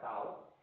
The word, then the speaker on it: tau: la constante de tiempo, pues así se pronuncia esa letra griega, tau, ¿sí?